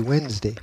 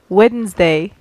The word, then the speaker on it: Wednesday: was just so weird because you don't pronounce the D you see Wednesday I've know something known